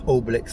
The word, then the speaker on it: Obelix: Kept getting the name wrong, it's Obelix like the comic.